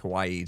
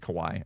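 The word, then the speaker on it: かわいい: Kawaii is not really said like Kawaii. Just Kawaii.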